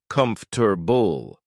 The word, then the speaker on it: comfortable: For example, the word comfortable sounds like comfort bull.